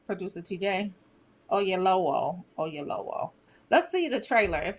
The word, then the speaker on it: Oyelowo: David Oyelowo, I just messed that up. He directs and stars in the new literary fantasy, The Waterman. Y'all here for it? do you pronounce his name, producer TJ? Oyelowo.